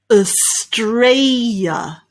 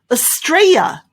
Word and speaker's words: Australia: that we pronounce it the correct pronunciation is us trey astralia australia australia that's how the australians pronounce it okay we really uh what should i say erase some of those syllables and just make three syllables there estrella however other